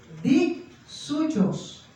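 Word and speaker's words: δίψυχος: Escuche bien, dixuchos. Es como difícil de pronunciar, pero así es, dixuchos, que significa dos almas, significan dos opiniones, significan dos voluntades, dos pensamientos.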